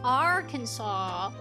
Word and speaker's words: Arkansas: A, E, I, O, U is why it's pronounced R. Kaw.